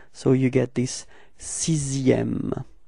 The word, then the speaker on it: sixième: with it is that this X in the middle, or maybe not in the middle, but actually in the sixième word, is pronounced like s. Okay, so it's not X really, okay? So you pronounce it like s.